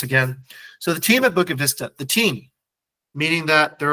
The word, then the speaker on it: Bukit Vista: And also, we're not Bali Vista, we're Bukit Vista, right? So the even the name of the protagonist is mispronounced.